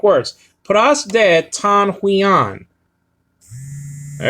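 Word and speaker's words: υἱόν: syllables over here okay huion okay so it's translated into sun s-o-n and then uh h-u-i-o-n okay not u-i-o-n but h because of the rough breathing marker over the iota and you do that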